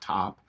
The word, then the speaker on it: taupe: the taupe taupe uh I believe that's pronounced top what the top emotional